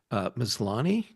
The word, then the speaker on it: Maslany: Maslany?